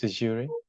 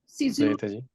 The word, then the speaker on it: Caesurae: That's how you pronounce Caesurae. Caesurae.